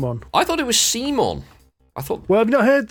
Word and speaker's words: CMON: mini or not that it is actually pronounced come on as in come on but aggressive I assume so yeah I